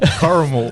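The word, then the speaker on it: Corrimal: Coramal.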